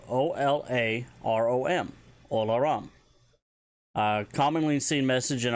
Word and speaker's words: Olarom: Anytime you join the server, you'll get the notification Olarom, which means welcome, which is spelled O-L-A-R-O-M, Olarom.